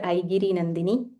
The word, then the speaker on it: Aigiri Nandini: This is the very popular Aigiri Nandini. Okay, first let's learn the right pronunciation.